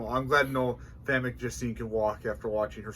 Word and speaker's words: Famke Janssen: Could Frankie Jasmine, or however you say her name, walk in this movie?